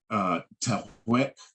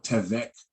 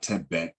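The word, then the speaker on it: תוך: So we got Tewek or Tevek, not Tebek. That should be either the V sound or the W sound. All right, we got to fix that. It's not Tebek.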